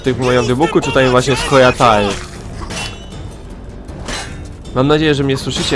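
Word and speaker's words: Scoia'tael: Jeszcze trochę teraz się muszę przedstawić, bo słuchałem sobie ostatnio audiobooka Wiedźmina, w którym mówią Skojatael, tak jak pisze się. I teraz właściwie nie wiem, jak to mówić, bo w grach mówią właśnie Skojatel, a w książce jakby to czytać dosłownie, w sensie dokładnie.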